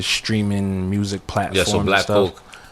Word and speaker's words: Blck Coke: Yeah, so Black Coke. Black Coke, that's spelled BLCK, Coke. COKE.